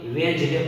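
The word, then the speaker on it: Wednesday: यहाँ पे वेज डे पढ़ेंगे, यहाँ पे डी साइलेंट है क्योंकि एन के पहले आया है, किसके पहले बताया है,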